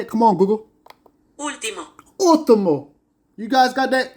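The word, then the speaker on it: último: Tim how you say it come on Google Ultimo Ultimo you guys got that to my beautiful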